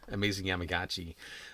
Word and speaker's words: Amazing Yamaguchi: Yes, Amazing Yamaguchi. This really cool looking Batman Beyond figure. I know. It's just. I love this. It is very awesome. But these are, I believe, Amazing Yamaguchi are like in the $150 range, if I'm